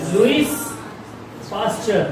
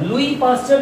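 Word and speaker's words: Louis Pasteur: लुईस पास्टर। लुई पास्टर भी बोल सकते हैं, लुईस पास्टर भी उनका नाम है, ठीक है, दोनों बुलाते हैं।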